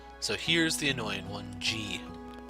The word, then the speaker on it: じ: ざ So here's the annoying one, G. じ It's not a Z syllable. It's the exception in the set. G as in Jeeves.